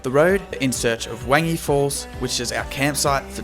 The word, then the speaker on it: Wangi Falls: This place is actually pronounced Wongai Falls. All right, I've just arrived at camp at Wangi Falls.